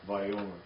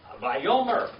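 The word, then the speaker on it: וַיֹּאמֶר: Yeah, from reading what it says, and said, that's Vayomer. Vayomer.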